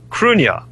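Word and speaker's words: Cruithne: began to fight over was cruna which is Earth's second moon and this is something that most people are totally unaware of and people can look this up it's spelled c r u i t h NE c r UI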